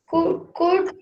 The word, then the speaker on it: could: One day I could show them now if they give me the chance. Mocha. There are things I could do It is not if could. I, It is could. L is silent here.